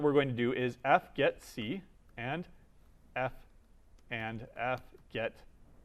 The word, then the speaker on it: fgetc: So the first one that we're going to do is fgetC and fget s. Right? So we call these fgetC because there's no way of nicely pronouncing that.